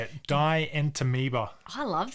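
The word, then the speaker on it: Dientamoeba: Dientameoba.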